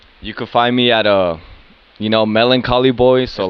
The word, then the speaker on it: MelancholyBoiii: You can find me at MelancholyBoiii. So Know like, how to spell it.